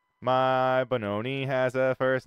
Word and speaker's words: Bononi: keep saying Bonani, but it's Bononi. Well, I can't say Maharaja. Yeah, that's why I Is like he- to he- correct you. It's Bonani, Bononi. like baloney with an N. My Bononi has a first name.